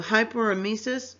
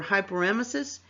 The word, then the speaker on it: hyperemesis: word root meaning vomiting so hyperemesis or hyperemesis is exact excessive vomiting and i pronounced it both ways because you do hear it pronounced both ways so again hyperemesis is